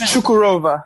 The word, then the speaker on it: Çukurova: And, you know, an up and coming league like in Turkey now that you're out there with, how do you pronounce that? Çukurova? Çukurova.